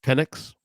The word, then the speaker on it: Penix: Is it Penix? Say it correctly. He deserves that. Penix?